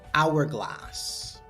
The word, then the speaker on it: hourglass: For article an hourglass, an honor. We use an here, though it begins with a consonant because the H is silent, so we only hear vowel O sound.